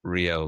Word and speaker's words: Ryo: Have you ever heard of I think his name is Rio Lu. That's how you pronounce it. RYO. He was leading design at Notion and recently joined Cursor.